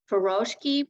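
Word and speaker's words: furoshiki: this wonderful Japanese tradition called uh feroshki pronounced uh spelled f-u-r-o-s-h-i-k-i and you don't even need um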